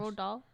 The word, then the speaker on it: Roald Dahl: Roald Dahl?